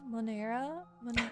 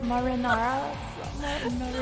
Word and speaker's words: marinara: We're like, Monera? Monera? What's the sauce? Oh no, I can't say it right. There's Alfredo, and then there's Monera sauce, right? Marinara.